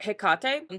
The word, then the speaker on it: Hecate: So this week's episode is on hecate or heate. There's other ways to pronounce her name, but I'm going to be